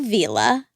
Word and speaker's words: Vila: Bob Vila? Yeah, so it's Bob Vila. Well, is it? Yeah, it is. I looked it up, and it's spelled with one L.